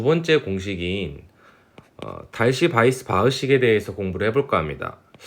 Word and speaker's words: Weisbach: 달시라는 분이랑 바이스 바흐라는 식으로 합쳐져 있고, 저도 처음에 이게 웨이스 바흐 막 이런 식으로 읽었는데 이게 영어가 아니었던 거죠.